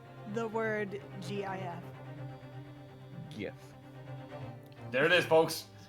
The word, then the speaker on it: GIF: pronounce the word GIF? GIF. There it is, folks. GIF.